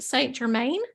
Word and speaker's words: Saint Germain: Michael you go and then say am I pronouncing this right Saint Germain yes is he like one that really resonates